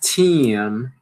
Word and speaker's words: team: Team, team, team. Tem que pronunciar o M final, né?